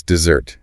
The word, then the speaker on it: dessert: And the sweet thing after dinner. That's dessert. D S E R T. Mhm. Stress on the second syllable. Dessert. Like stress because you want it so badly.